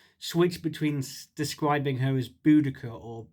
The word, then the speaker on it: Boudica: between describing her as Boudica or Boudicea. But different people do pronounce it differently. The Welsh call her Budug. Boudicea is what she's known as in Latin chronicles, and we've now settled on Boudica.